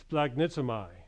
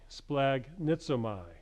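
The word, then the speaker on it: σπλαγχνίζομαι: It's pronounced splagnizomai, splagnizomai.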